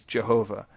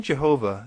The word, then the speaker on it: Jehovah: would transliterate the letter I as J, because in Germany, when they wanted to say the yes sound, they most often used the letter J. Later on, as people read this German translation, they pronounced it differently because, for instance, the French looked at the same letter and pronounced it with a hard J sound, and the English speakers adopted the French practice.